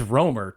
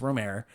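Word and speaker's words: Rohmer: I feel like I've say Dilman, but almost everybody says D, but then almost everybody says Ror, too, and they're wrong. It's Romer.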